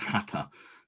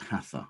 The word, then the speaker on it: hatha: hatta now i'm told it's pronounced hata in the uh sanskrit and not hatha which is how i